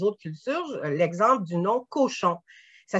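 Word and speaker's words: Cauchon: L'exemple du nom Cochon. Ça s'écrit C-A-U-C-H-O-N. C'est un patronyme qu'on retrouve ici au Québec. Et on dit pas cochon, on dit cochon.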